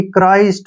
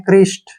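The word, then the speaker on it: Christ: एच आर आई एसटी क्राइस्ट सी एच से क और आ से र और आई से आई हो गया क्राई एस से बन गया स और टी से ट क्राइस्ट क्या पढ़ेंगे इसको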